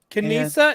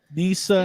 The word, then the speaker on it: Nisa: You got Nanta, Tebow, Kanisa, Tippett, Kanisa? No, the K is silent. Nisa. It's Nisa.